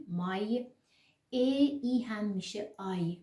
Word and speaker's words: Mai: If we know that 'a' and 'i' is /ai/, so we easily say 'Mai'.